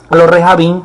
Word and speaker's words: rejabín: recabitas, en este caso a los rejabín, que se pronuncia así en hebreo.